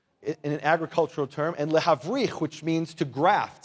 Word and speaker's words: lehavrich: Brechot means branches in an agricultural term, and lehavrich, which means to graft, say lehavrich.